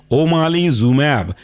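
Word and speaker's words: omalizumab: बहुत महत्वपूर्ण एग्जाम्पल है ओमालीजुमैब। स्पेलिंग है ओमाली, जैसे आप किसी माली को बुला रहे हो, ओमाली OMALI, जुमैब ZUMAB बना आपका ओमालीजुमैब।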